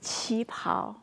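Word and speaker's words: 旗袍: Qi pao. Qi pao.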